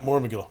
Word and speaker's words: Mormegil: about the new band uh if if I'm pronouncing this right Mor Mill is that right yeah Mor Mill yeah yeah you know essentially it's just we're